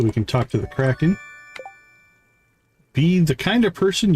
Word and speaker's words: Kraken: I think that's the crackling. Crackling. Kraken, I think is the pronunciation. Kraken.